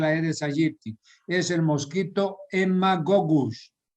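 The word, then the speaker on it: Haemagogus: En la zona selvática ya es otro mosquito, no es el Aedes aegypti, es el mosquito Haemococcus. Se escribe con H, Haemococcus, y se pronuncia Haemococcus.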